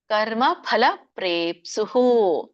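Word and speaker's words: ಕರ್ಮಫಲಪ್ರೇಪ್ಸುಃ: ದೀರ್ಘ ಗಿ ದೀರ್ಘ ರಾಗಿ ಕರ್ಮ ಫಲ ಪ್ರೇಪ್ಸುಹು ಫಲ ಫಲಪ ಎರಡು ತುಟ್ಟಿ ಹತ್ತಬೇಕು ಕರ್ಮ ಫಲ ಪ್ರೇಪ್ಸುಹು ಲುಬ್ದೊ ಇಲ್ಲಿ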